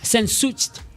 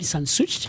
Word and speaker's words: Sehnsucht: And the word of the day for today, is sensucht. Sensucht. We'll find the pronunciation in a second, but this word is a noun, and how you spell this word is as follows: SEHNSUCHT.